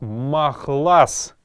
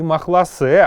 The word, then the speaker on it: махлас: Шапки будет звучать как махлас. Махлас, не махласе, а именно махлас, это следует запомнить.